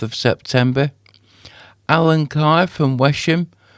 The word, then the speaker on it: Wesham: Alan Carr from Wesham or Westham is I've been told it's pronounced on the 13th of September.